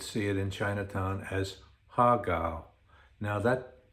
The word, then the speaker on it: har gow: it in Chinatown as HAR GOW. Now that name, unlike our English and Western languages, has music to it. Besides lyrics, it has music. So it's hi-lo, HAR GOW. That's how you say it.